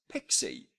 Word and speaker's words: PXE: by most people as pixie so kinda like pixie dust or fairy dust and my daughter loves